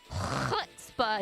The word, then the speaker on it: chutzpah: You gotta get the, you know, you gotta spit the loogie out while you say it. It's the only way. That's how you know you said it right. You hack a loogie while you're saying it, you know.